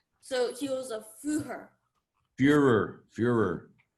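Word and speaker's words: Führer: he was a pure Fuhrer you are as the German pronunciation meaning simply the leader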